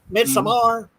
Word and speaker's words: Midsommar: Is it Midsummer? Midsommar? Yeah. Midsommar.